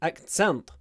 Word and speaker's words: accent: so the first one accent accent is an accent she has a strong Irish accent accent this stress is on the first syllable accent accent but the